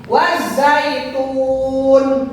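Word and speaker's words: وَالزَّيْتُونِ: Wazzaitun. Wazzaitun. Ini hurufnya huruf zai bukan zal ya.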